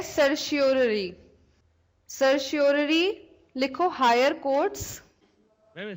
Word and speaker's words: certiorari: अब नेक्स्ट है सर्शियोररी। सर्शियोररी लिखो, हायर कोर्ट्स। मैम स्पेलिंग बता ना। CERTIORARI, सर्शियोररी।